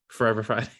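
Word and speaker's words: FRVR Friday: I didn't know it was actually Forever. I always just say FVR Friday. He takes out it's FRVR. He takes out the what is the vowels?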